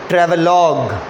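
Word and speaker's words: travelogue: पढ़ के देखो, ट्रैवलॉग, LOUGE का प्रोनाउंसिएशन है लॉग। हिंदी में जैसे लोग बोलते हैं ना, उसी में ल में ओ के जगह ल में औ की मात्रा लगा दो तो लॉग बोलोगे, ट्रैवलॉग।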